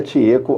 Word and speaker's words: Chieko: Olha só, Chieco como se escreve com ch, mas cuja pronúncia é tieco AO, que é uma